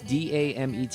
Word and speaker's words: Damet: How would you pronounce this? Yoann, like yawn? Yoann Damet, or is it Dame? It's Damet.